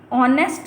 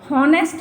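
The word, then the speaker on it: honest: जैसे हम ऑनेस्ट पढ़ते हैं, इसको हॉनेस्ट नहीं पढ़ेंगे, तो इसके आगे हम ऑनेस्ट है इसलिए ओ का साउंड आ रहा है, हम एन का यूज़ करेंगे।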